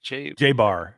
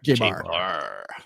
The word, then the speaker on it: Jay Behar: with Jay Behar nice am I pronouncing that right J Bar J Bar yeah you know I've